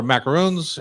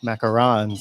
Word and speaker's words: macaron: Now we've macaroons on got my- macaroons. Yeah. Macarons. Macaron. Macaron. That's right. Macaron. You okay. said it wrong.